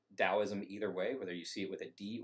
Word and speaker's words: Daoism: are moving towards taoism with a d it's pronounced taoism either way whether you see it with a